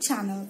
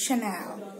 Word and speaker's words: Chanel: a and E L it's not channel it's Chanel coming up but the